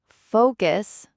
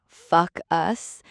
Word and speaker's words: focus: Then focus, not fuck us. Keep that O long, like in go.